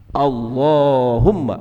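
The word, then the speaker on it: اللهم: inni artinya Ya Allah walaupun tulisannya walaupun tulisannya Allahumma termasuk sering kita terdapat tulisan Allah itu lainnya pendek terutama di Alquran Madinah namun dia dibacanya panjang Allahumma bukan Allahumma bukan Allahumma tapi Allahumma Hai Dek disebutnya untuk walet uktab dalam bahasa Arab dia tidak tertulis tapi harus dibaca Allahumma Anta Robbi nah ini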